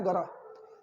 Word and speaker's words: gotta: इसे गोटा नहीं पढ़ना है, इसे पढ़ना है गरा.